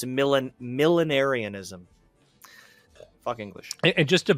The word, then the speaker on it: millenarianism: Okay, it is, and it's so weird the way it's spelled. It's millenarianism. Millenniarianism.